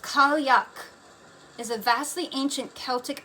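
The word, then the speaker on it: Cailleach: Pronounced Kalyak is a vastly ancient Celtic earth mother, a crone goddess of winter, snow, and changing seed seasons.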